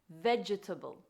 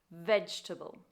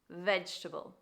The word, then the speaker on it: vegetable: vegetable this word is commonly mispronounced by adding an extra syllable and people sometimes say vegetable this is the wrong pronunciation the correct pronunciation is vegetable vegetable your turn okay good